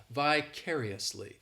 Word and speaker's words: vicariously: second syllable my bad the stress is on that second well yes it is on the second syllable that third syllable it's like that that letter I just has that e sound and the fourth syllable has the schwa vicariously and what this adverb